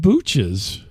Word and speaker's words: Booch's: in Columbia is at a place called Booch's, which kind of rhymes with cooches.